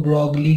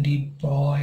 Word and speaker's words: de Broglie: तो डी, हम में से काफ़ी लोग इसको ब्रॉगली कहते हैं, बट इसका प्रोनाउंसिएशन डी ब्रॉय है, ठीक है।